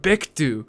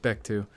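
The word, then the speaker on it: Paektu: the tiger of Mount bittu which by the way the dprk have many songs about Mount bechtu um although I think it's pronounced like pictu um whatever I'll I'll get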